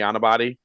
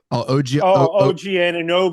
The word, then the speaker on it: Anunoby: How do you pronounce his name for me? Anabati? OG Anunoby. OG Anunoby, yeah.